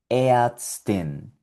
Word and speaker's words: Ärztin: Aquí tenemos otra palabra donde está la combinación A umlaut con R y suena Ärztin, Ärztin, que es médica, la mujer que estudió medicina y es doctora es una médica, es la forma femenina de médico, Ärztin.